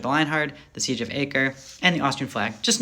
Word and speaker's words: Acre: third crusade in the siege of acre that's acre I've heard a lot of different pronunciations but we're gonna stick with that anyways